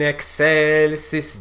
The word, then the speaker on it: excelsis: Going on in this word, you'll also notice that this final syllable, sis, it's not sis, but sis. Gloria in excelsis Deo.